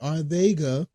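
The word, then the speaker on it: Arcega: just signed JJ arga that's the way it's pronounce it arga whide from the Philadelphia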